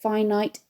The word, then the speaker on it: finite: The advantage of remembering this is that finite is pronounced as it's spelt, with a very clear I sound in the corresponding syllable.